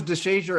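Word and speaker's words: Deshazor: And so was DeShazier Everett. He came in and he put fear in people too. He will knock someone's head off. He's not afraid. His name just rhymes with razor.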